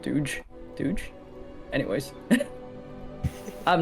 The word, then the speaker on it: Dogecoin: Dogecoin oh oh yeah I guess pronounce is pronounce Doge not Doge Doge anyways I've not